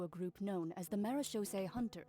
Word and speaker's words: Marechaussee: group known as the Marechaussee Hunters. Marechaussee Hunters. Hey, that's how we pronounce the artifact.